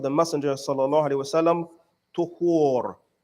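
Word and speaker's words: طُهور: Messenger sallallahu alayhi wasallam, tuhur. It is pronounced with a dhamma on the ta.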